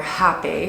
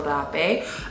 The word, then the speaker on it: rapé: And rapé, or hape, is what a lot of people say, but it's pronounced rapé, is a plant medicine that is considered the Shamatic Sniff.